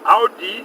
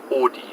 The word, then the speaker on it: Audi: they like to say Audi. Audi? Audi? Or is it Audi? Audi patent. Or Audi patent. Audi patent. It's like Aud, like fraud. Audi, that's why they do it.